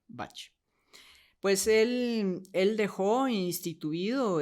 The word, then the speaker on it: Bach: música clásica pero eh el doctor Edward batch él era inglés era galés Y entonces en inglés se pronuncia Bach Pues él él dejó